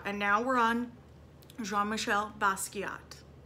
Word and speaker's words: Basquiat: talked about last week it is French in pronunciation jean-michel basquiat you say Basquiat bus